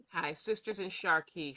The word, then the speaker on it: Sharqi: Hi, Sisters in Sharqi. Sharqi is an Arabic word.